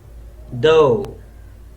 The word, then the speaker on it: though: go sometime T ough is though like Oh in goes you can say go